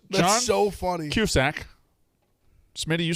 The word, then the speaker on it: Cusack: Cusack. Smitty, you say it wrong, and Ev, you just said it wrong. What I said, John? Cusack?